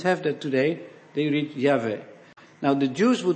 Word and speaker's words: Yahweh: and brought it in the name what's now Jehovah it is not it's an artificial rendering so it would be better to read Yahweh why h v h that some translations have that today they read yave now the Jews would not pronounce that name